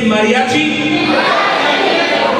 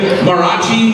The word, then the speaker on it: mariachi: Mariachi Los everyone say Mariachi but make sure you say Mariachi very good you're saying it correctly now cuz some of you guys are marachi maachi no Mariachi Mar losos awesome now